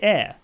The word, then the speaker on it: air: You see, if it was just AI, I would pronounce that I. But because there's an R on the end, I would say air. So yes, we do pronounce it.